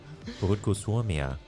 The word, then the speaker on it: Puhutko suomea: Puhutko suomea. And they're like, no, not at all. Puhutko suomea. He's You a tough forgot the student. A at the end. Puhutko suomea.